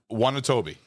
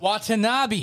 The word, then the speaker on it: Watanabe: Wanatobi. No. Watanabe. Watanabe. Fuck's sake. Oh my god. Watanabe. Not Wanatobi.